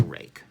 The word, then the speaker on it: Ruike: Look, I know that it's supposed to be pronounced rake. Like, I'm aware of this fact. They have made it clear on their website.